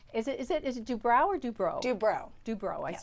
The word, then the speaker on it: Dubrow: Dubrow.